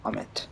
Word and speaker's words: Amit: yes you do that I'll meet or Amit as the correct pronunciation is Rebellion game is a